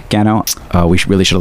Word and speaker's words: Gano: A year later, young Gordon Go. Gano.